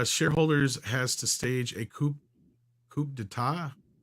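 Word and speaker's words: coup d'état: Camelbot Killer also says shareholders has to stage a coup d'etat.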